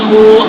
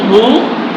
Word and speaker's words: هو: قل هو الله قل هو الله قل هو الله। এখানে আমরা ওয়া দিয়ে উচ্চারণ না করে মাঝে মাঝে কি দিয়ে করি? হামজা দিয়ে করি।